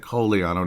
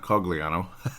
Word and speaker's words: Cogliano: I'm saying it correctly for the Italian accent kiano not cogliano was able to score